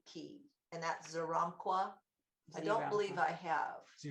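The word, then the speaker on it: Xeramqua: Well, this is the angel of the Z key, and his name is spelled like this: X, E as in Edward, R, A, M as in mom, Q, U, A, Zeramqua.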